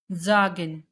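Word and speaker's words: sagen: Here vowel is after S then we can write it zagen.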